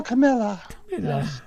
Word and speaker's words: Camilla: before Zod I mean kneel before Camilla it rhymes with chinchilla oh my goodness